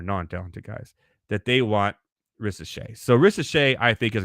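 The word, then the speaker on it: Risacher: ret now or R I know the r is silent he's French okay and and the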